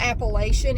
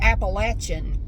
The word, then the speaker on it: Appalachian: of all it's not Appalachian if you say that we know you're not from here which is fine I mean it's just an indicator that you're not from here it's pronounced appalachin here and I know that's